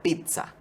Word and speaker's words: pizza: no adaptado al español lo ideal es pronunciarlo con una t y una zeta como en italiano o sea pizza y su escritura es